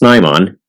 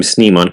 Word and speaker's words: Snimon: Yes, in its first appearance it was pronounced Snaymon because it comes from sniper, but in season 2 it became Snimon consistently.